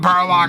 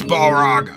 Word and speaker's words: Balrog: out there going by it's not barlock loki it's balrog okay model dear if